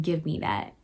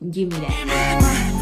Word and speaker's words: Gimme That: But the second music video is called Give Me That, or Gimme That, sorry. Let me pronounce that correctly. Gimme That.